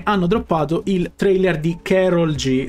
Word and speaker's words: Karol G: Allora, prima informazione, hanno droppato il trailer di Karol G. Se non si pronuncia così, mi perdonerete, non penso che sia Carol, sinceramente, però che ne so, perché sembra tipo spagnola. Io di questa tizia non